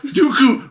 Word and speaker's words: Dooku: Count Dooku rhymes with Dookie.